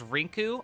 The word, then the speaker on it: Rinku: you're consuming if you the dub name is Rinku r-i-n-k-u um in the manga